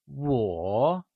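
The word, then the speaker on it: 我: Lets learn the pronunciation for Wǒ Wǒ is pronounced using the falling rising tone, Can you say Wǒ ?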